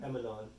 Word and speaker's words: Emanon: Emanon. Emanon. Alright. You know how I know how to say it? I say Char's daughter's name in my head first, and then add non.